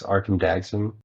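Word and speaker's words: Arcum Dagsson: Like the One Ring just fueled like a bunch of the like probably one of my favorite decks, Arkham Dagsum. Is that how you pronounce it?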